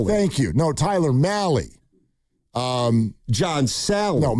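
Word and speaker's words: Mahle: So the starting pitcher on Saturday is Tyler Mali. It rhymes with rally. Not Molly, not me.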